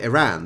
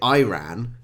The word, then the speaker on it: Iran: it they call it Iran they don't call it Iran it's Iran um so you know